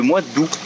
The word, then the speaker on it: août: Autre chose aussi, c'est que le mois d'août, tu ne prononces pas le T, tu dis c'est le mois d'août, c'est tout.